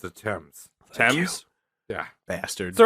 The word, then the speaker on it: Thames: Heat going on yeah is that how you pronounce Thames it's attempts Thames yeah bastards that's right it's weird it spelled